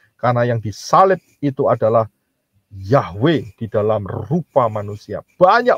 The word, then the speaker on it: Yahweh: Nah, kalau Yod He Waw He bacanya apa? Nggak lain adalah Yahweh.